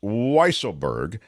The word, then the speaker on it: Weisselberg: John Radley, I think that's pronounced Weisselberg. Oh, I did will I say absolutely Weasel? accept Weaselberg. Weaselberg.